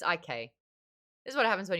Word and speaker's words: ich: But it's IK.